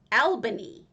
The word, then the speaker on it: Albany: was referring to albany because in wisconsin there is an albany it said albany i'm like no no it's not no it's albany and he's like no it's albany i'm like no no